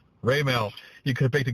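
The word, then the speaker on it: Raimel: How do you pronounce his first name? Raymel.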